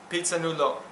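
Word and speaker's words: Phitsanulok: So that was one of those teams, and it was in the province of Pisanulo is how you say it, northern Thailand.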